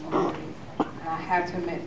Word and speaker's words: McGroarty: I heard a little bit, and I don't know much about, I guess his name is pronounced McGroarty.